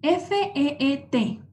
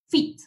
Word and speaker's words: feet: El siguiente es F-E-E-T. Esto significa piecitos. Cuando tenemos dos E juntas, se pronuncia igual como una I. Es feet.